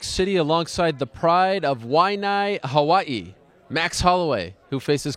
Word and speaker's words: Waianae: Ariel Helwani in New York City alongside the pride of Waianae, Hawaii, Max Holloway, who faces Cub Swanson this Saturday at UFC on Fox 15. How'd I do? Waianae, Hawaii.